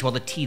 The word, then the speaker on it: te: This is why across eastern Asia, the Himalayas in Mongolia, the drink would take the name cha or some variation like ja or chai.